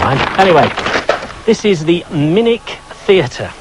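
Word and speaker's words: Minack: here farewell never mind anyway this is the minik theater it's spelt minak but it's pronounced minik and it's brilliant open air theater right on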